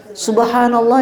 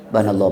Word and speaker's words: Subhanallah: Kadang-kadang enggak di benar tuh bacanya. Subhanallah ya. Banallah. Banallah. Banallah. Banallah. Apa banallah itu?